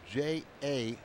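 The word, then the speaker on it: J. A. Happ: You know, his name is spelled J-A Happ.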